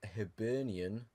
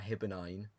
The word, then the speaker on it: Hibernian: Then a 0-0 draw against Hibernian, not Hibernine.